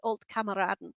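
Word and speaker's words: Alte Kameraden: It's Old Kameraden. I can pronounce it, so don't you panic.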